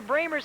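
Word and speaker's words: Brammer: block comes down into bramer's hand and then hudon fouls it on the shot it's Carol Brer b r m r pronounced bramer at the line four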